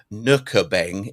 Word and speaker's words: Nürnberg: And he also went to, it's called Nürnberg is how you pronounce it. You'd never know that by how it's written.